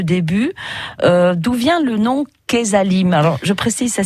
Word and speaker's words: Quezalim: Et ce matin, on découvre Kesalim, une plateforme 100% limousine, 100% locale.